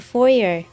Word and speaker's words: foyer: was, he's in the foyer. I only know that word from plays, actually. He's in the foyer. I pronounced it foyer, like the French pronunciation, the correct way.